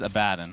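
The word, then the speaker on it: Abaddon: I I got confused the correct pronunciation is a bad and I've had this conversation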